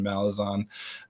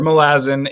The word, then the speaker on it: Malazan: most ridiculous breakdowns on malazon uh or milazzin if you want to pronounce it right um he's not here